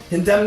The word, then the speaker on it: condemn: Condemn her fires. Let's condemn her. Just that stupid N is silent.